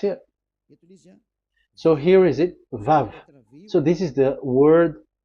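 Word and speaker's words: ו: So the word, the shape Vav is really pronounced V, like Vogue. That is it, pronunciation. So here in this side, it's pronunciation. This is pronunciation. So according to the old Hebrew word today, those who, the owner of the words, I mean, so it's a V. So don't change it into W.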